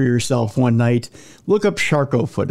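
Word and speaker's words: Charcot: that that I have shco foot which if you ever want nightmare fuel for yourself one night look up sharco foot it's spelled c h a r Co T it's very French and very very gruesome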